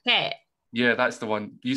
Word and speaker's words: Phuket: Phuket.